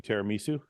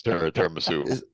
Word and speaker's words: tiramisu: Did you have any tiramisu?